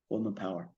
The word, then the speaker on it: Colman Power: all my social media, this is Coleman Power, but it's spelled with COLMANPOWER. Coleman Power. Yeah, don't put the E in there.